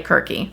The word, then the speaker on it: Kirke: A lot of people pronounce her name Circe. I think the proper pronunciation is technically Kirke, but I'm gonna say Kirke.